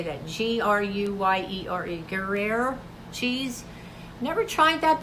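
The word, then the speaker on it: Gruyère: G-R-U-Y-E-R-E, Gruyere cheese.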